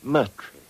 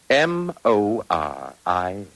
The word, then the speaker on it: Moriarty: I'm afraid I'll have to begin calling it the way it looks. M-O-R-I-A-R-T-Y.